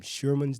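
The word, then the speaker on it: Scheuermann's: There are a lot of different reasons that this can develop, from Sherman's disease, and that's spelled Scheurmanns, I think it is apostrophe S, Sherman's disease.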